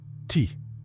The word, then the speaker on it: ti: En sumérien, le mot côte se prononce ti.